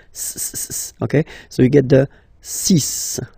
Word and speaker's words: six: And be careful here, because even if it's ending with this X, well, you'll have to pronounce it like S, S, okay? So you get the six pronunciation.